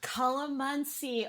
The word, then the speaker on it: calamansi: And so this is another watch Scott butcher pronunciation. It's okay. Don't worry. You're fine. Calamansi? Calamansi.